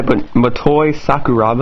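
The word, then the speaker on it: Motoi Sakuraba: stuff I love the music um composed by matoy sakuraba I believe is how you pronounce his name fun game I believe I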